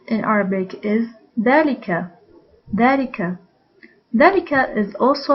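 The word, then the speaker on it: ذلك: arabic is delica delica dalika is also like heather and habi it is pronounced with alif but written without alif so we write it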